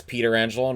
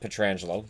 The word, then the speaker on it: Pietrangelo: Yes, Pietrangelo, not Pietrangelo. He pronounced it Frank Pietrangelo. Same family, different way of pronouncing it.